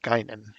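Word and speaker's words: Guinan: Trek fan you would know that that's that's pronounced gynan okay because that's that's the role that Rook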